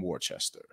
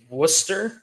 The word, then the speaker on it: Worcester: it is that uh is pronounced nothing like the way it's spelled so I'm sorry I